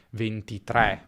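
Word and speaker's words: ventitré: Because, theoretically, here we are dealing with a closed pronunciation of the "e": "é" and not "è".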